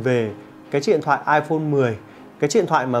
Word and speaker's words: iPhone X: xem là đọc là iPhone X hay là iPhone 10. Đấy, tuy nhiên là chính xác ấy, thì chúng ta phải đọc là iPhone 10, bởi vì là trong